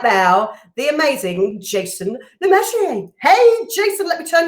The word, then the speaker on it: Le Masurier: We pronounce it as Le Masurier. I think in Jersey, where it comes from, they pronounce it as Le Masurier in Jersey, but we do it as literally as it's spelled.